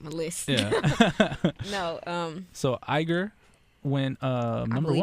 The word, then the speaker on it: Igor: No, So IGOR went I number believe 1. it's pronounced Igor.